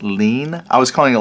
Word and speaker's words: ligne: And I think someone said this is pronounced lean. I was calling it like ligne. I don't know, but I think it's lean for line.